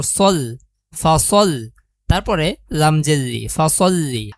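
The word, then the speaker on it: فَصَلِّ: তারপরে লাম জেল্লি, ফাসল্লি। আমরা জানি কোনো হরফের উপরে যখন তাসদিদ আসে তখন সেই হরফটা 2 বার উচ্চারণ করতে হয়।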